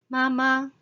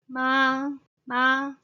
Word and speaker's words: 媽媽: 超商 convenience store then mother 媽媽 the first tone 媽媽 mother ok the second